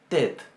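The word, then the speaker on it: טית: Bien, entonces esta se pronuncia tet. Para que se den una idea la vamos a comparar con la que está al final del alfabeto, que es la tau, y que sería nuestra T. Esta es tet y esta es tau.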